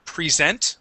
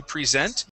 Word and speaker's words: present: is the verb to present and present which is the noun okay with the verb yeah with the verb uh it is a long e at the beginning okay with the noun